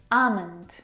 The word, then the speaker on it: almond: very comfortable this afternoon almond now in this word the L is silent it's not almond or